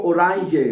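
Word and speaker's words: Orange: ओराय ओराय ठीक है ऑरेंज को ओराय पढ़ा जाता है ठीक है अच्छा पी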